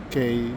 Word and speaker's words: Quay: And this is where the uh circular qu uh K circular K station is the way you pronounce it.